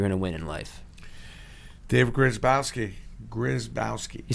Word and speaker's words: Grzybowski: David Grzybowski.